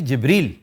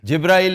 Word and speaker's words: जिब्रील: हाँ जी, तो अक्सर इसको जिब्रील भी कहते हैं। इट is actually जिब्रील। जी सर। जिब्राइल इज़ a miss pronunciation.